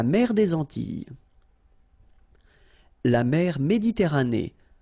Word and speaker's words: Méditerranée: La mer Méditerranée. Okay, here final not pronounced, but then you pronounce this E at the end. Méditerranée.